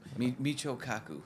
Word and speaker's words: Michio Kaku: Michio Kaku.